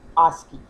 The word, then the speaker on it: ASCII: the American standard code for information interchange, often pronounced ASCII.